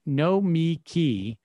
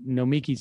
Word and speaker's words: Nomiki: Traffic Cone, if you mentally think no me key when saying Nomiki's name, you'll get the pronunciation right every time.